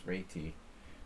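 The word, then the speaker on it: Réti: The proper pronunciation is reti.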